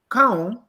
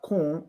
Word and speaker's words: Kaun: Kaun, whose name is wrongly pronounced as Kun, Mr.